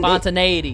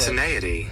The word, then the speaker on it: spontaneity: Spontane- spontane- Spontaneity. Spontane- How do I pronounce that? Yeah, I like actually love this word. Spontaneity.